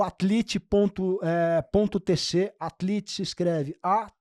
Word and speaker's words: Atlete: Atlit se escreve a T L E T E.